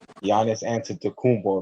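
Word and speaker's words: Giannis Antetokounmpo: the greek freak but that's that grease thing giannis answered to kumbo that's how you pronounce his name oh yeah cause i was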